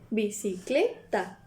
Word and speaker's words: bicicleta: La fuerza viene de la tercera, que sería bicicleta.